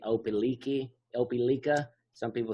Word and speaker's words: Opelika: O- Opelika.